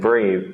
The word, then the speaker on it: breathe: to take a bath in the case of breath and breathe the E acts as a modifier to make this long sound the same can be